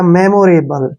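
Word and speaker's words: memorable: एल को ल पढ़ेंगे और री का प्रोनाउंस हमने नहीं करना है क्योंकि जब लास्ट में य आता है तो उसको हम नहीं पढ़ते हैं इस प्रकार से यह बन गया मेमोरेबल ठीक है ना मेमोरेबल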